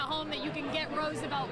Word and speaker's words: Roosevelt: I need Roosevelt Colvin.